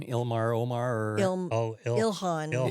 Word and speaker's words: Ilhan: Omar orl Ilhan. Ilhan.